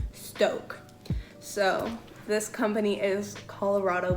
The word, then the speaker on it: Stok: And now let's talk about stock coffee, which when I was on their website, I found out it's actually pronounced Stoke.